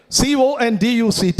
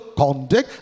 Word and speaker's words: conduct: CONDUCT, it could fall on the first syllable, conduct, that's a noun, falls on the second syllable, conduct, it's a verb.